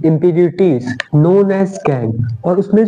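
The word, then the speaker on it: gangue: ठीक है, प्रोनाउंसिएशन इसका गैंग।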